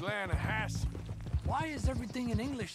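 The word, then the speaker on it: Lannahechee: it runs right near here yeah but it's pronounced laying a Hass why is everything in English said differently than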